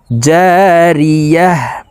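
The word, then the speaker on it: جارية: দুই পেশ তুন জারিয়াতুন গোল তাও ওয়াকফুর ক্ষেত্রে হার উচ্চারণ করতে হবে এবং হা কে সাকিন করে ফেলবো জারিয়াহ জারিয়াহ ফিহা আইনু জারিয়াহ তা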